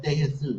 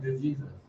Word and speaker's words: De Jesus: Oh, but it looks like the Jesus. No, it's De Jesus.